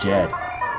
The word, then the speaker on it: Jed: Jed does you mean Ted no I'm Jed like Jade Jed Jaden Jed ow I'm sorry can